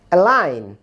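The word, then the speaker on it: align: অ্যালাইন, জি এর উচ্চারণ হচ্ছে না।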